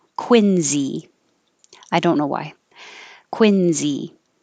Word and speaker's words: Quincy: country would call it quincy with a s but in boston it's pronounced with a z quincy i don't know why